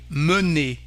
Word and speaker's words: mener: But we have also Here, mener. So the sound is un.